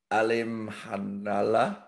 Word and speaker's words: Alimkhanuly: I was just going to say, do we do Janibek Alim Hanala? I think I got that right, because I wrote it phonetically. It's spelled AlimKhanuly.